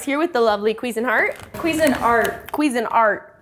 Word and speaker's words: Cuisinart: Cuisinart, yeah, that's how you say that. We pronounce it Cuisinart for some reason, or we have for too long, so we're trying to correct it.